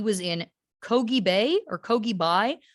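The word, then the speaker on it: Køge Bay: in kogi bay or kogibai the way they said it in the documentary sounded like kogebai um so that's how i'm gonna say it even though that kind of sounds australian sure um but it's spelt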